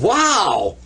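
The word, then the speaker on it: واو: letter it's so amazing it's called wow that's Wow and of course it represents the W in the English language we usually represent it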